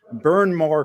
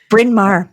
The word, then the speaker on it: Bryn Mawr: She is a Florida transplant, having moved to the Delaware Valley to attend Bryn Mawr College. I pronounced that correctly. Bryn Mawr.